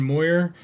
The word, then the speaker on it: Moir: to be joined by Moyer even though it's not really how it looks like it's spelled uh welcome to